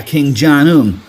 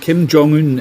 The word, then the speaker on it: Kim Jong-un: at me like that the way you pronounced Kim Jong-un it was completely wrong you seriously don't know how to say Kim Jong-un really come on Trent